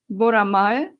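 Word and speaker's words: Boramae: own steel fighter jet aircraft, the Ki KF21 Boramay.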